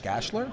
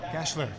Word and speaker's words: Gashler: Joseph and Andrew Bell how do you pronounce this last name Steve gash gashler gashler gashler Joseph gashler and Andrew